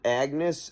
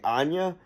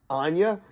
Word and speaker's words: Agnes: people have pronounced it Agnes. It's spelled that way, but in the movie they say Anya. So I'm going to say that. Anya.